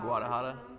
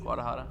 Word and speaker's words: Guadalajara: Like I've been to like Guadalajara. Oh Lord, what in the world is? Guadalajara. Yeah, she gotta teach him Guadalajara? You missed a syllable, buddy.